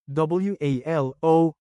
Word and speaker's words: walo: WALO is 8 in Bicol. Change A to AH and O to UH, then pronounce it as Walo.